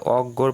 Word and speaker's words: অজ্ঞ: জ্ঞাতি শব্দের মধ্যে বা শেষে যদি থাকে তো উচ্চারণ এদের হয় গ এরকম যেমন অজ্ঞ এখানে এই যে অজ্ঞর পাশে যে অগ হসন্ত গ চন্দবিন্দুকার দেওয়া আছে